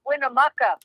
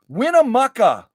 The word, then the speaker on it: Winnemucca: everybody hey uh Christine from Canada uh it's pronounced Winnemucca Winnemucca yes I used to feel there lots of